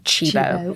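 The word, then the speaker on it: Cibo: And and this is true cuz this food is You know, the restaurant in Cinito is going to be called Chebo and it's spelled C H E E B O.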